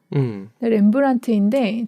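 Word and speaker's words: Rembrandt: 보면 위쪽에 사인이 있어요 렘브란트인데 저걸 잘 보면 팁 끝에 티 앞에 d가 있거든요네 근데 렘브란트를 그냥 원래 쓰면 저 뒤가 없대요 근데 저거를 자기가 자기 사인할 때만 저 묵음인 딜을 집어넣었다고 하더라고요 그리고 렘브란트는이 사람의 원래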